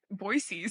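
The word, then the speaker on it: Boise: about to move to boyy so that's how you say it right boyy yeah yes yeah okay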